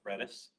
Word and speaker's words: Redis: Pronounced Redis.